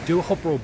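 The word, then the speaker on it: Teahupoʻo: I'm coming to you from Duhopro Beach. If you are in the United States and you spell it, it's spelled Teahapu, but it's pronounced a little bit different.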